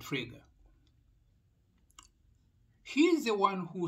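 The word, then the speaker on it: Frege: philosophy with the mathematics fraga it is spelled f-r-e-g-e but you pronounce it trigger he is the one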